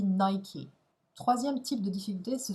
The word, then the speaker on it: Nike: Donc par exemple, là, pour la marque Nike, eh bien, il se trouve qu'en anglais, ça se dit Nike.